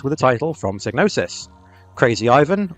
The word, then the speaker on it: Krazy Ivan: Krazy Ivan, or Krazy Ivan if you're going to pronounce it the way it spells itself, is a mech shooter